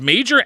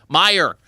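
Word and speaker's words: Meijer: call it I think is it pronounced major me i j r Meer okay am I right though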